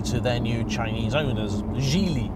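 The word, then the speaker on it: Geely: their new Chinese owners Jie Li I'm told it's pronounced and there are individuals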